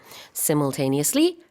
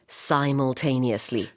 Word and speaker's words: simultaneously: 발음은 두 가지가 있어요. simultaneously, simultaneously. Yes. 둘 다 돼요.